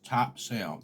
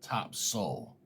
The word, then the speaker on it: Topsail: down there but uh it's top sale t-o-p-s-a-i-l Topsail well the locals you know in the southerners they would hear me say it they'd say you're definitely not from here they called it top soul Topsail and they